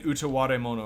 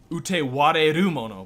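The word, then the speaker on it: Utawarerumono: Do you mean Utaware Mono or something? I do want to play that. Utewareru Mono, by the way. I fucking got it wrong. There's an extra syllable in there.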